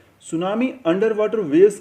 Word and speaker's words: सुनामी: इसी कैटेगरी में नेक्स्ट आती है सुनामी, जिसकी स्पेलिंग में टी साइलेंट है, पर जब सुनामी आती है तो कोस्टल एरियाज़ की साइलेंस को हाहाकार में बदल देती है।